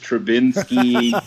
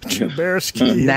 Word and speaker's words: Trubisky: Yeah, Brian Urlacher, Mitch Trubinsky. It's Trubersky, according to Nagy in Canada is Nagy, and he must be part Canadian.